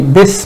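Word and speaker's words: بسم: going to go, it's not going to be pronounced, so it will become bis. It should be Bismillah, but it's going to be bis because it's hamzatul wasl.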